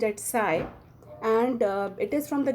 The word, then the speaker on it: psi: It is pronounced as psi, and it is from the Greek alphabet, so that this particular psi symbol is internationally accepted as a symbol for psychology.